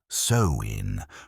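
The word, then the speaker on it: Samhain: candy, it was an ancient Celtic holy day pronounced so in marking the end of the harvest and the start of the new year. But more than just a seasonal marker, Samhine was a spiritual portal,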